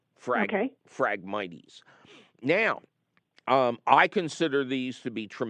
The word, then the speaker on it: Phragmites: It's PH instead of F. Phragmites.